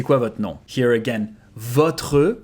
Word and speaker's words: votre: Here again, votre, you can devocalize the E and even the R and make votre nom. C'est quoi votre nom? That's going to sound more natural.